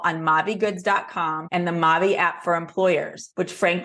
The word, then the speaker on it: Maavee: there tell us about Maui and what the word Maui means means it's actually really simple it means my life in French by pronunciation not by spelling so when we started